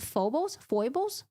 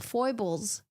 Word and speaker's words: foible: Foibles. Okay, the S throws me off. The S really throws me off. I hate it. Pronounce the I.